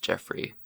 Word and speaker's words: Geoffrey: Oh, that's just pronounced Geoffrey. Yeah, this whole... Yeah. Yeah. I don't know why. I don't know why they do that. They That's a British thing.